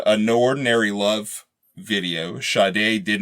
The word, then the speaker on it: Sade: Sade. Yeah, we got Sade. What episode was that? Like episode 30 where I made fun of you because what'd you call her back then? Like Sade?